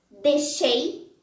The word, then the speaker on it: deixei: O ditongo E, quando aparece antes das letras X, R e J, pode ser pronunciado como E. Deixei, queijo, mineiro.